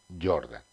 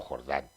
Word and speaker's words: Jordan: llama método de gauss Jordan o Jordán como lo queráis pronunciar método de gauss